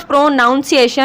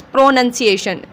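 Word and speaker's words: pronunciation: इट्स नॉट प्रोनाउंसिएशन, इट्स प्रोनंसिएशन.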